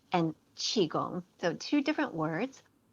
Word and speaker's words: qigong: uh that the and in actuality um it's pronounced tai chi in in chinese it's i g um so it's taiji and qigong so two different words taiji is a philosophy